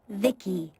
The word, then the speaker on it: Vici: i'm by the way i'm vici pronounced vicky my creator yep i